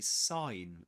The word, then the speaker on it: sign: So the the the G is silent. This letter is silent. We don't pronounce it. There you have it. There you have it. You say sign.